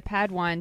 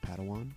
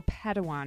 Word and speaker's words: padawan: master yoda assigned a pad one to this bold jedi it's pronounced padawan oh padawan excuse me hey it's getting